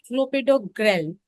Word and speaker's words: clopidogrel: क्लोपिडोग्रेल, इट्स a name of medicine, so it's not grail, so the pronunciation goes clopidogrel.